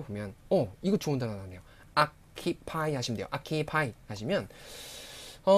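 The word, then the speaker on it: อัคคีภัย: 아키파이 하시면 돼요. 아키파이 하시면. 이거 읽으실 때요 부분이 악하고 카키하고 발음이 연음이 될것 같지만 그렇게 읽으시면 안 되고요. 아키 읽으셔야 돼요.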